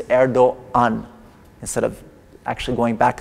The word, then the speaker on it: Erdoğan: You don't pronounce it, you just acknowledge its presence. So you say Erdoğan instead of actually going